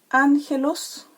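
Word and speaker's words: ἄγγελος: estaba el nominativo es ángel os ya recuerden que la doble gama se pronuncia la primera como una aimé como una no entonces esta palabra en su en su forma nominativa es ángelos pero cuando llega a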